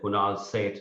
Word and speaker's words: Kunal Seth: And I would say Kunal Seth. I said, Seth? What are you saying? Please spell that for me.